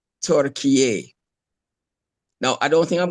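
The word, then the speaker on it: Türkiye: on Google and see what is the correct pronunciation for, you know, Turkey's new name. And the pronunciation I got was TURKIYE.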